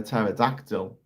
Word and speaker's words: pterodactyl: The question is right, why when a pterodactyl goes to the toilet, do you not hear anything? Because the P is silent.